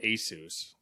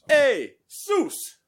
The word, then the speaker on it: ASUS: HS are a soos I never remember I go with Asus Asus I think I looked it up one time and that's like how they pronounced hey Zeus I just I'm gonna